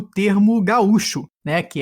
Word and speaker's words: gaúcho: como no Uruguai né mas aí como Gaúcho né a sílaba tônica é um pouco diferente a origem desse termo